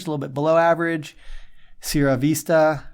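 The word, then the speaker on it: Sierra Vista: little bit below average SRA Vista SRA Vista that was nicely said yes I always default to the Spanish pronunciation of Spanish words as you should that's what they're for um s Vista has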